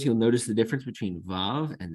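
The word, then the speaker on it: וו: The next letter we have is Vav.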